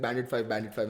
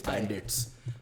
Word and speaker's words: Bandits: I was like Bandit 5, and then I got like a few angry messages saying that it's Bandits. Like, okay, cool, Bandits.